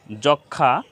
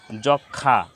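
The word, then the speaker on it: যক্ষ্মা: ফলা সংযুক্ত হয়েছে তো যুক্ত ব্যঞ্জন বর্ণের সাথে ম ফলা সংযুক্ত হলে সে ম ফলার কোন উচ্চারণ হয় না তো এখানে সূক্ষ সূক্ষ লক্ষ লক্ষী লক্ষণ লক্ষণ যক্ষা যক্ষা তো এখানে একটা নিয়ম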